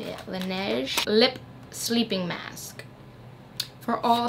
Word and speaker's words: Laneige: Okay, so first thing I see in here is the Laneige. That's how you say it. Laneige Lip Sleeping Mask.